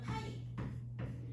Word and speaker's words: 파이: 근데 중복순열은 파이. 요거 파이라고 읽으시면 돼요.